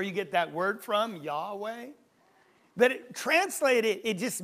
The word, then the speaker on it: Yahweh: names of our God in the Hebrew it's roughly pronounced Yahweh the American Standard calls it Jehovah and that's where you get that word from Yahweh but it translated it